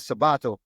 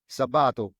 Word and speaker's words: Sabato: name you can see there's there's an accent on the second a because as pronouned Sabato it's not you know